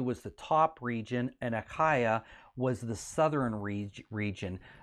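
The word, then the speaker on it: Achaia: is norther in the northern region of greece a kyuh kyuh is how it's pronounced is the region in the south and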